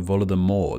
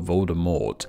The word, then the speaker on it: Voldemort: First off, being that Rowling herself stated that the T should be silent, making it sound like Voldemort, not Voldemort.